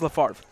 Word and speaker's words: LaFarve: Xander LaFarve, right? Is that what we're calling it? I think it's LaFarve. because I think the B is silent. But Xander LaFarve, 9 of 14, 204 yards, 3 touchdown passes.